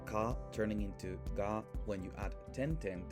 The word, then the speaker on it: じ: However because we don't have the c sound we have the she sound she with tenten is pronounced g.